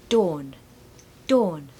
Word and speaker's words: dawn: it's just korus and Dawn is like door okay so you can say the word door I'm sure you can and now just put an n on the end so Dawn Dawn don't pronounce that r